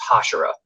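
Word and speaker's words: Hashira: slayer themed for everything so it's hashera like the opera is from the show yeah i love it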